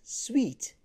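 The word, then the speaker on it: suite: And the eighth one is, again, most people mispronounce it as suit. It is not suit, it is sweet, sweet, sweet.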